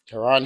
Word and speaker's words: Taryn: It's like Aaron but with the T.